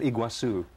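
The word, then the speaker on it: Iguazú: you can get there well how do you pronounce the waterfalls it's called iguazu the iguazu falls and you can get that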